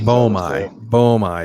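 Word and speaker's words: boehmei: I don't know how to pronounce that one. Bomai, I think. Bomai is exactly how they say it.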